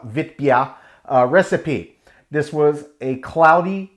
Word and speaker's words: Witbier: a classic vip beer or if you pronounce it it's the germans do uh vitbia recipe this was a